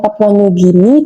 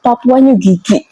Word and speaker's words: Papua New Guinea: Tapi pengucapannya ini beliau ini salah. Jadi bukannya Papua New Guinea, tapi dia nyebutnya malah Papua New Gigi gitu.